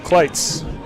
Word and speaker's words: Cleats: Cleats in the live chat says, pronounced Kleitz.